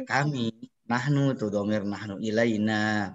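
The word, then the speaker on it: إلينا: Nahnu tuh domir nahnu, ilaina panjang bacanya ya.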